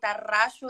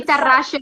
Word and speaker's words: Tarraxo: Yes, Tarraxo. You can say it like that. You can say it exactly like you want. You can also do it with your Spanish. Tarraxo. It's okay. I say Tarraxo.